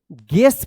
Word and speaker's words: guess: तो देखिए यहां पे GUESS, तो क्या है, यहां पे यू साइलेंट है, इसको क्या पढ़ेंगे, गेस पढ़ेंगे, GUESS, गेस।